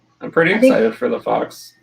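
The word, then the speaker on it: Fawkes: like it is that this is called a fox yeah fox f-a-w-k-e-s well i apparently don't know how to read because when i read the book i pronounced it way differently well it is a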